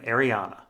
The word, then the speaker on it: Arianne: Ariana sample chapter and yes I pronounce her name Ariana we last Saw Ariana